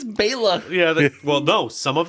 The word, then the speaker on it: Bela: I said earlier and they didn't even pronounce it right it's Baila yeah well no some of them call him Bella and some call him